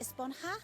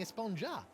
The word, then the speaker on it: Esponja: huh actually it's pronounced espanha with an h sound at the end really but we've all been saying esponja yes i know it's